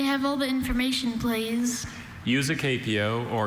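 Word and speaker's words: usucapio: Useapio. May I have all the information, please? Useapio or usapio is a noun from Latin.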